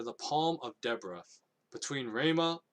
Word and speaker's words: Ramah: And she held court under the palm of Deborah, between Ramah or Ramah It's totally pronounced Ramah.